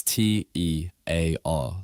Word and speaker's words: tear: If you have a tear in your eye when you're crying, that's t e a r, like here. But if you tear a piece of paper, that's t a i r like hair.